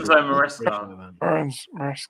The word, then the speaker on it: Enzo Maresca: Enzo Maresca.